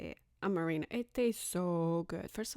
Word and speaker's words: Amarena: Amarena.